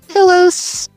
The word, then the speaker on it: Filos: Um, if and my name it's spelled F I L O S, which is always people always misspell it, but pronounce it pillows. Filos felos.